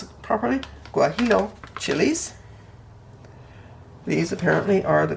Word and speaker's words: guajillo: mexico chili peppers on there and if i pronounce it properly guajillo chilis these apparently are the closest to the